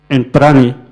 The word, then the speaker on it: Enprani: So we have created this name Enprani, because in Korea they pronounce it a little bit like that, and looks like a little French, but not totally French.